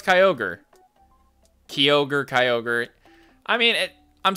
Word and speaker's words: Kyogre: I know it's Kyogre.